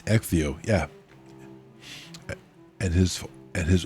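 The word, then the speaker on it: Ecgtheow: It's No, it's it's Exio.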